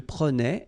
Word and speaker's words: prenait: So remember that in that case, you will have to really pronounce the like a. Prenait. All right? So same thing here, final S not pronounced. Je prenais, tu prenais, il prenait, final T not pronounced.